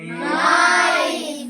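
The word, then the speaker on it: knife: नाइफ नाइफ है ना? के को साइलेंट कर दिया जाता है।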